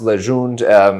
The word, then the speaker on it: Legende: an E at the end, but it is pronounced Legende.